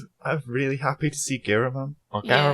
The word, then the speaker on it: Giramon: I'm really happy to see Giramon, or Yeah. Garamon, how you say it, but Giramon.